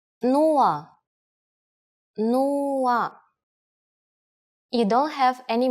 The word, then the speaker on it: Нула: It's similar to one of the versions of zero in English, but with a different pronunciation. Нула.